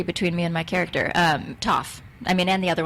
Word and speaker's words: Toph: Toph definitely rhymes with tough.